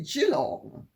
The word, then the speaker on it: Geelong: me that I was right to put the Geelong school timber tops in Australia, but I was wrong to pronounce it Geelong because it's evidently Geelong.